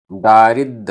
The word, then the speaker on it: दारिद्द: दीसन्ति, दीसन्ति, जोय सिद्धा, आधा द ध, सिद्धा, जोय सिद्धा, अंजन सिद्धा, अंजन सिद्धा, वि, केवि, केवि, दीसन्ति, दीसन्ति, दारिद्द, आधा दा पूरा दा, दारिद्द, जोय सिद्धम, दारिद्द जोय